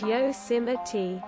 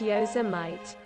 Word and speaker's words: Yosemite: pronounced tiddy no joke yosemite is pronounced yo sima t not yosemite i still have no